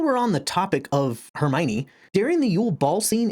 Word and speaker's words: Hermione: So I called her Hermony until we get to Goblet of Fire where she breaks down the pronunciations to Hermione. And then from then on, readers were able to pronounce her name properly.